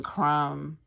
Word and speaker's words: crumb: silent k silent B ends in silent b lamb we don't say lamb and then crumb we don't say crumb and then thumb we